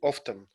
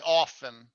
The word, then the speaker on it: often: We have a distinct T in often, right? Usually often. Some people say it, some don't. I don't. I say often. Often. Okay. But okay. some people say often.